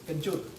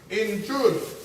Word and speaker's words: kencur: Kencur. Who? Kencur. Aromatic ginger. Aromatic ginger. Aromatic ginger. Say it again. Aromatic. No. Say it in this. Kencur. Injur. Kencur. How you spell it? K-E. Oh, Ken. Kencur. Kenchur.